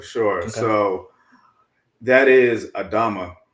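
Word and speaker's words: אדמה: So that is Adama, right? Strong's Concordance 127, Adama. It is, I'm using the Bible Hub app here for Strong's Concordance. And the noun is feminine. Again, it's pronounced Adama, and the definition is ground, land, earth, soil.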